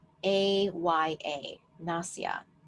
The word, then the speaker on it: nasya: s a whi a nasya I believe something close to that na sya or na sa aya and so this is